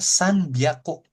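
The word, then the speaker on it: さんびゃく: Kalau 300 dia disebutnya sanbiaku. Sanaku bukan sanaku gitu ya. Tapi sanbiaku gitu ya.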